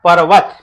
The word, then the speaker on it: पर्वत: देखिएगा, अब यहां पे देखिएगा, ये लिखा है पर्वत, तो चूंकि आप जानते हैं इस रेफ की मात्रा का आधा उच्चारण हो रहा है पर्वत, ठीक है ना।